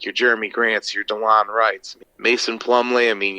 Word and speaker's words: Delon: a nice selling prize yeah delon is how it's pronounced oh delon yeah so